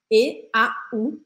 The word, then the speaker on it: eau: um monte de letra E, A, U, mas a gente fala eau. E por que que isso acontece? Porque em francês, essas três letrinhas juntas, a gente pronuncia o.